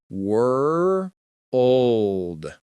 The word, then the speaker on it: world: Then for L, touch the roof gently right behind your upper teeth. Try it slowly. Were old.